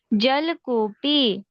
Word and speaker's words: जलकूपी: जलकूपी, जल। ल पूरा उच्चारण आना चाहिए।